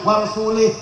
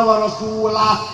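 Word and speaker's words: وَرَسُولُهُ: Allah tidak melindungi rasulnya Wal sulih salah yang benar bacanya Innallaha barium Minal musyrikinna wa rasulah Allah dan rasulnya tidak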